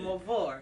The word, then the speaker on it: Mvor: I say it's Mvor. Morvor Entertainment. How you say it? Like Mvor. I ain't French. I ain't French. I'm American. Mavor. So it almost sounds French a little bit. Mavor. Yeah, like Mavor.